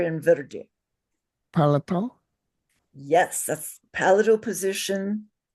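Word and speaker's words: वृद्धि: Verde is the word. So everybody say verde. Verdi. Verdi. Verde. Verdi. Yes, now you can say a vocalic R.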